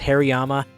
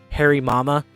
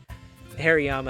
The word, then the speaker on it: Hariyama: I think like 5 years of my life, pronounced Hariyama, Harry Mama, and every single time I talked to my mom about it, she was like, why are you calling me Harry?